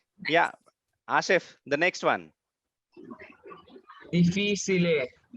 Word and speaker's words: difficile: Difficile. We pronounce Difficile. here chi. Okay, Chi. difficile. Correct.